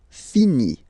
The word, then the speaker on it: finit: Il, elle finit. So it, final T not pronounced. Il, elle finit.